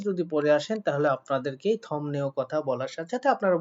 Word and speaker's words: 덥네요: আপনারা যদি আমার মতো করে আমি যেভাবে আপনাদেরকে উচ্চারণ শিখিয়েছি সেভাবে যদি পড়ে আসেন তাহলে আপনাদেরকে থমনেও কথা বলার সাথে সাথে আপনারা বুঝে যাবেন কি আমাদের থপতা শব্দটাই বোঝাচ্ছে মানে গরমকেই বোঝাচ্ছে। কিন্তু যদি থপনেও অনেকে পড়ে থাকেন অর্থাৎ এই বিয়োগটাকে ম না